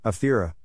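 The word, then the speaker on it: Άβδηρα: The present-day town is written Avdera and pronounced Avthera in modern Greek.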